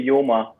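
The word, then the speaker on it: Joma: think you love your juma sports is that red yeah right mama actually how do you pronounce it we just say yoma oh yeah actually i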